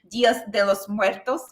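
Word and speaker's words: Días de los Muertos: I'm glad that it won, but essentially it was the Muertos mask, Day of the Day, the Mexican Dias de los Muertos. Am I pronouncing it right?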